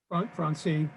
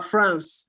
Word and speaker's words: France: Francie, am I pronouncing your name properly, first of all? Francie? France. It's France, just like the country.